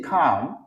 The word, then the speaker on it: calm: Deuxième phrase, c'est stay calm. Stay calm. OK? Moi, j'aime dire stay calm. Je ne vais pas prononcer L là. Moi, je dis stay calm.